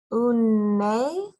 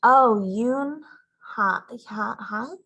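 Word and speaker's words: Unhei: Une? The girl asked, scrunching up her face. Une. Some kids chanted. No. Unhai corrected. It's spelled U-N-H-E-I. It's pronounced Yun-hai.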